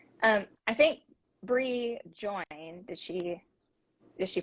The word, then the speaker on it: Brea: right we're probably not it's Bree that's what I go by Breathe okay yeah thanks